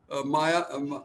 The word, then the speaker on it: Maja: You see, in that particular case, first of all, I'm very happy to talk to Maya. Maja. Yeah, she pronounces it Maya.